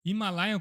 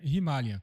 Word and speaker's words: Himalayan: a Royal Enfield Himalayan, ou Himalayan como chama aqui, lá na Índia se pronuncia Himalayan.